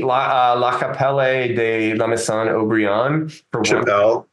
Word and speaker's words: Chapelle: de Lan obrian forelle Chapelle like Chappelle it's the same pronunciation same pronunciation um 115 that didn't